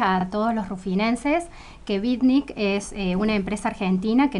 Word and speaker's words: Vitnik: Está Karina Sáez, ejecutiva de cuentas, área comercial de Bicnic, ¿lo digo bien? ¿Lo pronuncio sí, bien?